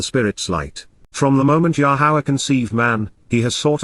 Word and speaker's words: Yahowah: One and Only God yahwah yahwah an accurate pronunciation of yahovah based upon his Torah